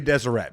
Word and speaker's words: Deseret: okay this I'm desert is spelled how Deseret it's going to be Deseret Deseret Drifters okay dumb